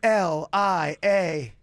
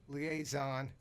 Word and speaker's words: liaison: L-I-A-S-O-N. Liaison. That is how a majority of people spell it. Was it Which that? is incorrect. Oh. Was it double S? Double I. Double I? Yes. Liaison. That A is surrounded by I's. That's what makes it tricky.